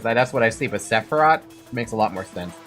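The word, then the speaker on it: Sephirah: So, it is it is like saying Sepharoth, but it's Sepharat.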